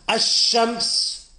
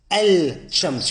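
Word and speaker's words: الشمس: So for example, ash-shams, you don't hear me say al-shams, you don't hear the lam.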